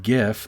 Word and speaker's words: GIF: that it's obvious that it should be pronounced gif because the word g stands for graphical which is a hard g sound you don't say graphics